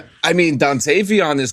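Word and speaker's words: Dontayvion: The Dantavian. Is it Dantavian? It's just Dant. Yeah. Oh, you said Dantavian. I mean, Dantavon is correct, too.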